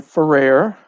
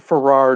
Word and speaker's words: Ferrer: My name's Ferrer. If you ever look at the name and you want to pronounce it Ferrar, don't. Just think rare fur and then switch it.